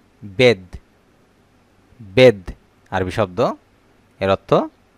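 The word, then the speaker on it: بيض: বেদ। বেদ আরবি শব্দ এর অর্থ ডিম। বেদ আরবি শব্দ এর অর্থ ডিম। বেত। বেত খেয়াল করেন, বেত এর শব্দ, এটি বাংলা অর্থ বাড়ি বা ঘর। একটু খেয়াল করেন, বেদ, বেত, বেদ, বেত।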